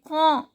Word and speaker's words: quand: Then quand, D is silent.